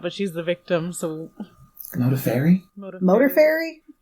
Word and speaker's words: Modafferi: No, it actually says phonetically, it's Modaferri. Modaferri. Modaferri. Modaferri. It still sounds like Modaferri. Modaferri. Now it's sounding like Motor Furry.